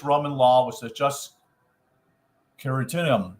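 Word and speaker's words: Quiritium: law was to just keratinum Now spell that for you q-u-i-r-i-t-i-u-m that's keratinum by The curetons Who were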